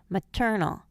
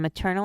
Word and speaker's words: maternal: Maternal, paternal, determine. The first and last syllables schwa in maternal and paternal, but the first syllable retains its long sound in determine.